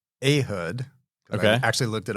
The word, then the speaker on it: Ehud: So it's Ehud. Okay. I actually looked it up. Is it really? Yep. Okay, I've said Ehud my entire life, so Ehud is transformational for me.